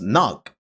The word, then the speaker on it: knock: For example, knock is pronounced as knock and thumb is pronounced as thumb.